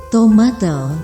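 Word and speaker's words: tomatl: Sahabat Bandasari TV RPG, kata tomat berasal dari kata dalam bahasa Nahuatl, tomatel diucapkan.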